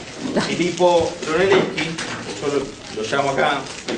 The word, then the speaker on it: Brunelleschi: Decíamos, Brunelleschi se escribe así, raro, no se escribe como suena exactamente, porque se escribe en italiano. Filippo Brunelleschi, yo lo llamo acá